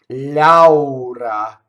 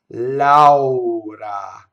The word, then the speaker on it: Laura: Laura. All right, are you getting all the way to A and then U and then A? Laura. You pronounce every vowel you see in Italian.